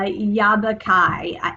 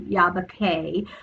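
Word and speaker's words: Yabakei: journey um to uh yabba kai okay yabba k i always say it wrong i always want to say kai but it's actually yabake uh gorge and this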